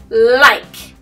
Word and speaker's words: like: much like like like remember that e on the end makes the I say I if there wasn't an ease and you might get confused and say but no there's an e the e is silent but the e makes the I say I makes it the long sound oh I like like